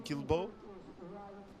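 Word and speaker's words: Guilbaud: really enjoying that moment from U from Tristan kilbo toz that's how you say it um yeah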